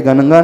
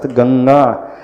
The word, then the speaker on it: गंगा: है तो फिर कौन सा हम न का उच्चारण नहीं करेंगे। गणगा नहीं पढ़ेंगे। गम नहीं पढ़ेंगे। क्या पढ़ेंगे? क ख ग घ उसका गंगा।